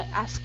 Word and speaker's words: asked: I asked him. I asked. Asked. With a T at the end.